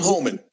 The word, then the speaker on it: Homan: don't know if it's Homan or Harman I don't know I think it's how is it pronounced you know Alpha yeah Tom hullman Tom Holman okay so it is Tom hman Tom hullman has said